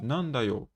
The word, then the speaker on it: なんだ: E jintan, なんだよメンマ nandayo, qu'est-ce qu'il y a? Nanda, en fait, c'est nani, quoi? Da, quand on les utilise ensemble, ça devient nanda pour une histoire de prononciation.